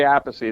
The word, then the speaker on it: Appice: I'm like, well, how do you pronounce the album name? Well, what happened, Carmine used to say Appice.